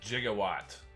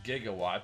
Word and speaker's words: Gigawatt: is fun to transform back to the future jigawatt i'm not usually big on the crossover figures but i couldn't pass on gigawatt yes i know the proper way to pronounce the measurement unit is gigawatt but this guy is based on back to